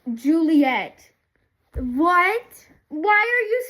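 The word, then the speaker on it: Ghiuliyette: Yeah, it's like I'll I'll either underline that or it's spelled G H I U L I Y E T T E pronounced Juliet.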